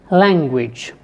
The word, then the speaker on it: language: another word for example language so here the first syllable is stressed if you take a word like specific the second syllable is stressed if you take a